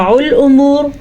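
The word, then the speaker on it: الْأُمُورُ: زبر ہے۔ ترجع الامور، را کو پھر سے پر پڑھنا ہے کیونکہ را ساکن سے پیچھے پیش ہے۔ ٹھیک ہے، را ساکن سے پہلے پیش ہونے کی وجہ سے را کو ہم موٹا پڑھیں گے، عین کے مخرج کو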